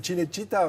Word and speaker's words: Cinecittà: Oui, moi je dirais Cinecittà, mais ouais, bon, si bien. on veut prononcer. Française. Et on voit bien le mot Cinecittà, on le coupe en deux, ça fait cinéma d'un côté, et Città, la ville.